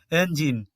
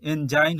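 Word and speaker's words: engine: গিভ তো এটিও ব্যতিক্রম এনজিন এখানে দেখো আই এন ই এখানে এনজাইন হওয়া উচিত ছিল তো এটি এনজাইন না হয়েছে এনজিন রিজ মানে হচ্ছে শিখর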